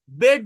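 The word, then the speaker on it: bed: যেমন আমি যদি এরকম একটা ওয়ার্ড বলি বিইডি, এটা কি বিট বলি না বেড বলি? পিইএন, এটা পিন বলি না পেন বলি? বেড বলি, পেন বলি, কিন্তু লেখা আছে তো ই, কিন্তু উচ্চারণ কিন্তু এ। অর্থাৎ আমরা যেটাকে এ বলি সেটা এই, যেটাকে ই বলি সেটা এ।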